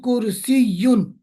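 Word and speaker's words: كرسيّ: Chair in Arabic also is called kursi, but pronunciation kursiyun. There is a shadda tashdid here.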